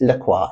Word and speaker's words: Lacroix: what is really cool about this brand Maurice Laqua. Now it's spelled like the soda Lroy but it is pronounced Laqua.